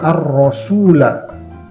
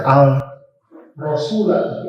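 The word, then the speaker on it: الرسول: sini ada arasula nah alif lam ini tidak dibaca jadi layaknya seperti matahari yang menutup cahaya bintang jadi bintangnya tidak terlihat tertutup oleh rnya Jadi dibacanya arrasula tidak dibaca Al rasula arrasula Nah ada tanda tasid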